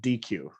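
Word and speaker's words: dequeue: And then when an element leaves, it's called DQ. Okay, DQ, D-E-Q-U-E-U-E.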